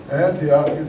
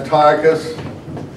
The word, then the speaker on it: Antiochus: Because on their way back from the Egyptian campaign, and the king, it's not an emperor, is Antiochus Epiphanes. Now, some people like to call him Antiochus, and I call him Antiochus only because of the word Antioch in Syria.